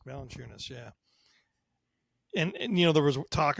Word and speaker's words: Valanciunas: Valanciunas. Valanciunas, yeah.